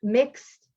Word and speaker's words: Mx: But there are other ones like the suffix mx as opposed to Mr. or Mrs., right? And again, I'm going to type these in chat for folks who are here. Mixed is how you pronounce that.